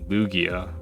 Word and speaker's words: Lugia: oh it's a oh it's a hard g lugia it swims as fast